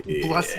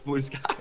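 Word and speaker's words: Blueskies: Blusky. Hola. How you doing? I said your name wrong. It's Blue Skies.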